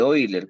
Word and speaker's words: Euler: homogénea por el teorema de Euler o de oiler como se pronuncia ya se acuerdan que dice el teorema